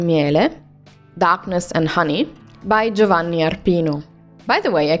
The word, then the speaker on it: Giovanni: say a name, but Giovanni. But I heard it so much that, just so you know, this is how you pronounce it. So it's like, it's similar to J-O, but it's written G-I-O.